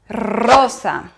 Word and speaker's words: rosa: Néanmoins, si le ER espagnol se trouve au début du mot, il faut le doubler. Il faut doubler le son. Par exemple, rosa ou Ramon.